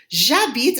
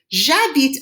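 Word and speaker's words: j'habite: after me it's excellent jabit a peoria right i have to use a j apostrophe because the h is silent that makes it a vowel sound and i need to blend them together jabit a peoria chu a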